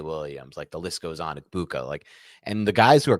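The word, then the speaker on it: Egbuka: Okay, I think you still might be saying the G in there. It's just Ibuka.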